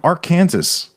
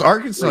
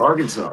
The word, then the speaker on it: Arkansas: He's from Arc Kansas." They're like, "It's Arkansas, you idiot. Arkansas."